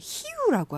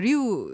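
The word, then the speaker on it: Rio: 아, 근데 지금 말씀하실 때 히우라고 하셨어요. 아, 네네. 히우. 우리가 맞아요. 보통 이제 알고 있는 리우 네.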